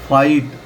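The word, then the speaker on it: fight: जब भी किसी शब्द में आई के बाद जी एच टी आ रहा है तो आई की साउंड बोलेंगे। अब जैसे फाइट लड़ाई या संघर्ष।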